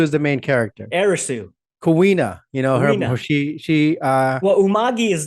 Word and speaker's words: Kuina: But all the characters that were introduced, Kuni, who is the also Kuina.